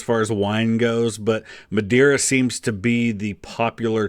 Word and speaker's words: Madeira: Yet instead, here you are, sucking down Madeira wine like it's the first job you've ever had. Well, Mary, I just thought it was about time someone did some sucking in this house. And it's pronounced Madeira.